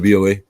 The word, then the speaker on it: BOA: yeah, that's how you say it, BOA.